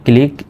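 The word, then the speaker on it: clique: এরকম শব্দের শেষে এরকম ইংরেজি শব্দের শেষে যদি কিউ ইউ ই থাকে সেটা সমান সমান শুধু ক এই কিউ ইউ ই মিলে শুধু কয়র মত উচ্চারিত হবে বাংলায় তাহলে সি এইচ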